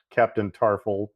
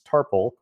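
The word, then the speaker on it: Tarpals: I was mispronouncing it in my head as Captain Tarful, but it's Tarple.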